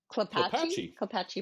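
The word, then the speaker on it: Klapatche: South Puyallup River to, I'm never going to pronounce that, Clapshy Park? Clapatchie Okay, Park.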